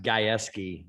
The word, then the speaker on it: Gajewski: My last name is spelled, or it's pronounced Gajewski, so it's not an easy one.